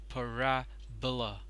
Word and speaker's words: parabola: per pronounced as hyperbola parabola parabola the stress is on rare it is pronounced as parabola bulla bulla parabola hyperbola